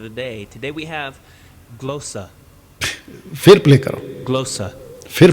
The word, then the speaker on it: glossa: तो Shibu Thomas, ग्लोसा, what is the right pronounce? फिर play करो। the Greek word of the day. Today we have glossa.